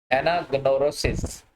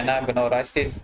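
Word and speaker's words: anagnorisis: उसके बाद एनाग्नोरोसिस, ठीक है, इसको इसकी डिफरेंट प्रोनाउंसिएशंस हैं, कुछ कहते हैं एनाग्नोरासिस भी कहते हैं, कुछ एनाग्नोरोसिस भी कहते हैं। डिफरेंट प्रोनाउंसिएशन के अंदर आप इसको प्रोनाउंस कर सकते हैं।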